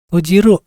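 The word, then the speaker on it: 閉じる: Tojiru. Tojiru tutup. Ini kanjinya. Nah, lalu ada elevator ya. Cara bacanya ini adalah agari esukareta.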